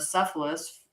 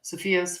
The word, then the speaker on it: Cepheus: The constellation of Cephalus or Cepheus, say it right. Cepheus, for instance, is the same shape as the temple marking of Indian palmistry.